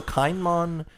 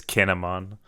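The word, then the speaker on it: Kin'emon: So Kainmon has like a puritanical... It's Kinemon.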